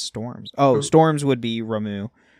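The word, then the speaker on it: Ramuh: Oh, Storms would be Ramu. Ramu or Rama? How you say his name? Rama? I say Rama.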